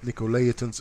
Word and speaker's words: Nicolaitans: Now, this is a little bit different writing here, but Nicolaitans is the way that you pronounce this.